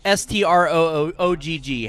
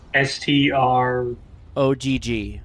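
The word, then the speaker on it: Strogg: Okay, Jason, how would you pronounce it? Stroog. Okay, so the opening cutscene just pronounced it Stroog. In a few minutes, when there's a computer cutscene, the computer voice pronounces it Strog.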